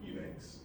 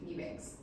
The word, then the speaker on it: Eubanks: So, how do you pronounce your last name? Eubanks. Eubanks? Yeah. Okay, I just want to make sure I say it right. Eubanks. It's like the E's not there. Okay, Eubanks.